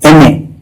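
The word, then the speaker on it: M.A.: एमए दिखने में consonant लगता है, लेकिन क्या प्रोनाउंसिएशन में भी वही है? चलिए सोचते हैं। आपने देखा एम लिखा है, तो क्या ए लगाएंगे? लेकिन अब जरा इसे जोर से बोलिए, एम ए, क्या साउंड आया?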